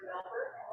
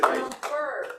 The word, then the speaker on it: Melbourne: I'm officially now registered for the Rotary International Conference in Melbourne. And it is pronounced Melbourne, it's not Melbourne, Australia, it's corrected by Australia.